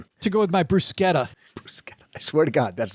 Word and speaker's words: bruschetta: Bruschetta.